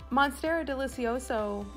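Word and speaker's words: Monstera deliciosa: I needed it Cori so monstera delicioso is the way that that plant name is pronounced so if you guys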